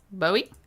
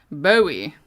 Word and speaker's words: Bowie: bow bow you tie like bow tie with an e Bowie Bowie okay so let me